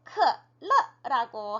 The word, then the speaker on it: 可乐: 네, 콜라라는 단어를 크러라고 해요. 네, 영어 단어 콜라를 한자, 네, 중국어 발음이랑 비슷하게 조합을 해서 만든 단어입니다.